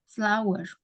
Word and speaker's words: flour: his shirt FL ya tulisannya memang FL flower ya tapi cara membacanya bukan flower FL cara membacanya seperti kita menyebut bunga dalam bahasa Inggris apa bunga flower ya sama ya flower Jack has been making